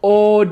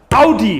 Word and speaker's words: Audi: the first honker name so many people say od when it's actually pronounced audi say it with me audi very easy next